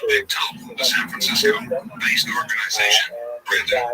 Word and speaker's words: Bechtel: Bechtel, pronounced Bechtel, the San Francisco-based organization.